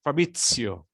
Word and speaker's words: Fabrizio: Yes, the most difficult things to be pronounced is the Z. But Fabrizio, just think that like it was T plus S. Fabrizio. Okay, that's the true sound.